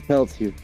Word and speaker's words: Pelletier: You're putting 3 syllables in. It's Pelletier. Pelletier.